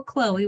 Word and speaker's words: Chloe: So you do spell Chloe with an E that is voiced at the end, but in most other words, OE at the end is silent.